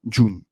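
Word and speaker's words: Ğ1: Elle s'appelle J1, qui se prononce aussi June, ou plus simplement June.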